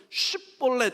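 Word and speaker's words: Shibboleth: 슈벌렛 SH 발음이에요. 그니까 시옷 발음에 흐름이 붙어서이 흐름이 붙어야 그래서 슈볼렛 이렇게 발음돼야 되는데 에브라임 사람들의 언어 습관은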